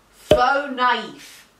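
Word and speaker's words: faux naïf: okay well you're wrong the word is pronounced faux knife and the and it's it's a hyphenated word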